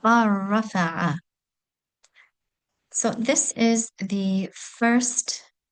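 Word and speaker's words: bal rafa'ahu: So we make a complete assimilation and the letter lam is not pronounced. And one will go straight from the letter ba in our example here to the fatha on the letter ra. So ba rafa'a.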